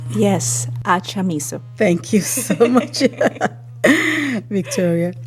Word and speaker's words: Achamizo: And with me here in the studio is Victoria Victoria, can you help me with the pronunciation of your last name? Yes, Achamizo.